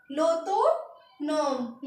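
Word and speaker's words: l'automne: हैं लो तो मन एल अपोस्ट ए यू टी ओ एन ओ एम ई तो इसको हम पूरा पढ़ेंगे लो तो नोम लो तो नोम नेक्स्ट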